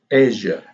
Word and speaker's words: Asia: So if we have S-I-A, like in Asia, the pronunciation of the S here is Z, Asia, amnesia, fantasia.